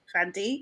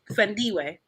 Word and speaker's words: Thandiwe: Just tone it all the way down, Fandi, or I don't know, how do you say her name probably? Thandiwe. Yeah? Thandiwe.